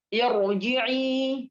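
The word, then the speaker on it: ارجعي: Jadi bacanya irji'i, ya. Irji'i, bukan irji'i. Bukan bukan tipis tapi tebal.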